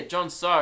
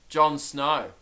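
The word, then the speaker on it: John So: Yeah, Jon So. And the whole time, I was saying Jon Snow.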